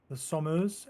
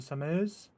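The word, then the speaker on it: Somers: Yes, I've just been corrected here by my pronunciation of the Sommers as opposed to Summers.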